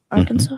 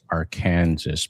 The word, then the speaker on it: Arkansas: The word Arkan Arkansas? Yeah. It's pronounced with a silent S at at the end.